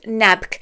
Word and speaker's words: Nabq: you'll be heading to a town called nabk it's nabq that's how it's spelled and there's a big